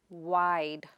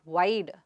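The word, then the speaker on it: wide: The next word is waid. It is not waYD, but waid.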